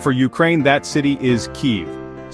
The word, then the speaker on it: Kyiv: And for Ukraine, that city is Keev, spelled K Yiv, and pronounced Keev.